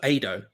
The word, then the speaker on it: Ado: See, Ado, like Play-Doh, so Ado. My guy's back in the beef also.